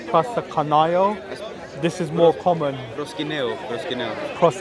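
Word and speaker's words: προσκυνέω: Proskineo. The U becomes an I.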